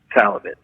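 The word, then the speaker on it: Szalavitz: Salovitz, you don't pronounce the Z. It's an Hungarian name, and SC is one letter.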